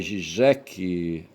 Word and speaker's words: Žižek: Slavoj Žižek, pronunciado Slavoj Žižek, ouça.